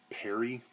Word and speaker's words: Pare: that Ron I think his last name is Perry p-a-r-e I think he pronounces that Perry I know he's like